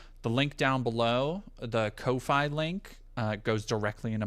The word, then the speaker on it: Ko-fi: Uh I think Kofi is supposed to be pronounced coffee, but I've my Well, like you're tipping a barista.